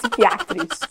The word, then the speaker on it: psychiatrist: Não é psychiatrist. We're gonna say psychiatrist. Esse P no início da palavra a gente não pronuncia, tá? Então, psychiatrist.